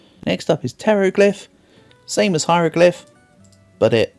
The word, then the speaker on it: Pteroglyph: but we'll put the Pteroglyph in front of the Hieroglyph because it's got a cooler picture. You can never hear when the Pteroglyphs are going to the toilet because the P is silent.